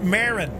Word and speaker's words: Marin: Ooh, it's pronounced Marin.